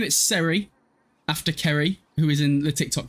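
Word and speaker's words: Ceri: We're going to name it Seri, after Kerry, who is in the TikTok chat, because her name is spelled C-E-R-I, and I always pronounced it as Seri at the start, and I don't know why.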